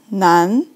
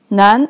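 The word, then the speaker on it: 男: li but the power so it pronounced like none none a means a male and it's easy to understand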